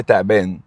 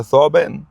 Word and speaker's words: ثعبان: فاحنا في مصر مش بننطق يعني زي تعبان، هو ثعبان.